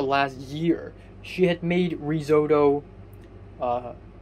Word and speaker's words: risotto: year she had made risotto uh like many times for dinner and um for the last three times she had made risotto i have to remind her that it's called risotto not rosotto so and and before